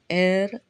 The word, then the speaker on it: heir: So, words like are, honor, honest, honorable, honorarium, heir, heirs, etc. start with the consonant letter H. We use an before them because the H is silent, so they start with a vowel sound.